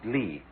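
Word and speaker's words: 理: this you know um is pronounced lee. There are several kinds of lee in Chinese, but this one means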